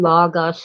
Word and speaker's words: logos: word logos and yes I know it's really Lagos it's a short o but I don't care I grew up saying logos and it's more comfortable